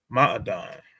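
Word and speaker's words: מעדן: Because we can see that this word will be pronounced ma'adan, right?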